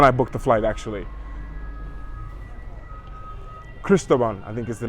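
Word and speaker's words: San Cristóbal: Cristobal, I think is the name, how you say it. ¿Cómo se llama esta ciudad? La ciudad de aquí. Cristobal, San Cristobal.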